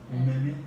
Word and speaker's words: gourmet: T를 발음을 안 하니까 메가 되는 거지.